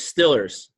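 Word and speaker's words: Steelers: team from Pittsburgh Pennsylvania the Pittsburgh East pronunciation is Stiller's yeah that's what I've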